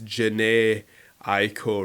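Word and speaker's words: Jhené Aiko: i'm so sorry because i've been saying her name wrong the whole time and i've been listening to her for ages so i'm really sorry it's my fault i didn't do my research it's janae aiko ricky oh my god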